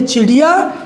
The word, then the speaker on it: चिड़ियाँ: यहाँ हम पढ़ेंगे खटिया, यहाँ पढ़ेंगे खटियाँ, यहाँ पढ़ेंगे गुड़िया, यहाँ पढ़ेंगे गुड़ियाँ, यहाँ पढ़ेंगे चिड़िया, यहाँ पढ़ेंगे चिड़ियाँ। यानी नाक से आवाज़ आएगी इनके उच्चारण में और लिखने में भिन्नता, यहाँ पर चंद्र बिंदु लग जाएगा।